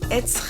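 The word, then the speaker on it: עץ: vowel, the vowel, and the ein is silent without a vowel, so it's going to get the vowel, so it's going to be etz.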